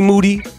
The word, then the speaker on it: Moody: Moody, last name rhymes with duty.